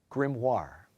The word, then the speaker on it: grimoire: spell to change the child into a rat grim War are there any alternate pronunciations no alternate pronunciations language of origin this word is from a French word grimoire g r i m m o i r